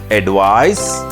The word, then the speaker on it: advice: end of the word like ad V is pronounced as advice whereas a v i s e is pronounced